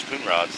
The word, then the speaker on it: Conrads: in the history that it's a German name is what I was told and the pronunciation was Kunrods. That was the pronunciation. All the members the Kunrods people family the families that lived here was Kunrods but now it's slowly